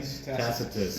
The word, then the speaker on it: Tacitus: Tacitus.